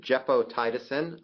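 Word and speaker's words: gepotidacin: move on to a novel antibiotic it is pronounced jeo tiisin um I practiced for this talk specifically um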